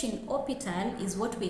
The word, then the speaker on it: hôpital: For example, we have hospital in English, but in French we say hôpital, and you can see that the H in hôpital is silent. Now this H in hôpital is what we call H muet, silent H in English.